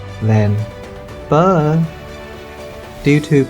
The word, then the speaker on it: phở: Phố đây, phố à, then phở. Due to pronunciation changes, the word pho gradually become pho. The Vietnamese-Portuguese La Dictionary by Alexandre de Rhodes, published in 1651, does not contain the word phở.